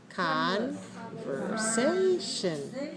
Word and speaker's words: conversation: When we say the noun form, the vowel is different. Conversation.